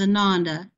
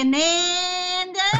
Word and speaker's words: Ananda: my author name is Ananda, and you give it great honor by pronouncing it Ananda because it means bliss and joy. And when I go south, they say Ananda.